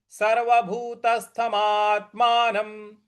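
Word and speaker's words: सर्वभूतस्थमात्मानम्: तो सर्वभूतस्थ सर्वभूतस्थ मात्मनमात्मनम देखिए मा के बाद जो आधा त है उस पर हमको आघात देना है बल लगाना है और न के ऊपर जो अनुस्वार है उसका उच्चारण हम म में करेंगे म के उच्चारण में करेंगे तो ये पद बन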